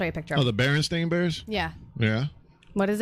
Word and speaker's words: Berenstain: in Braille spells it it's sta AI n on the book and I thought I was ste i N Berenstein bears its Berenstain today that's just dyslexia